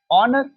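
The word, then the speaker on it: honour: ऑनर ऑनर। अब देखिए एच है क्योंकि एच की तो हां होती है। बट यहां पे क्या प्रोनाउंस हो रहा है? ऑनर अ यहां भी क्या होगा?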